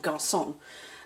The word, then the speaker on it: garçon: So that is the French C with a little sort of tail at the bottom, which is pronounced like an S, so you'd see that in garçon.